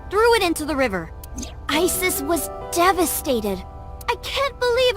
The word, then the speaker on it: Isis: Horus's mom is named Isis. But in ancient Egyptian, it's pronounced closer to Iset or Aset.